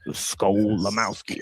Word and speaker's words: Skolimowski: Yeah, and it basically sounds exactly as it's spelled, SKO, right? And then Lamowski, Limowski, right? So like Skolimowski, right?